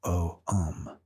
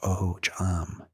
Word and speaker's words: Ogham: What we're really discussing is Ogham, pronounced O-um or O-jam, an alphabet so distinctive